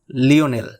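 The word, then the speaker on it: Lionel: ইংরেজিতে লায়নেল উচ্চারণ আর্জেন্টিনায় এসে স্প্যানিশ ধাসে হয়ে গেছে লিওনেল।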